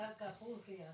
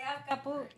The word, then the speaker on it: Acapulco: And it's Acapulco, not Puga. That's Say it right. again, Simone. What she said? Say Acapulco.